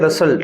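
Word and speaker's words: rustled: अभी उसको बोलते हैं रसल्ट क्या बोलते हैं भाई आर यू एस टी एल ई डी रसल्ट में टी साइलेंट होता है सरसराट की आवाज होती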